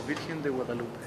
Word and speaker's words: Virgen de Guadalupe: La Virgen de Guadalupe.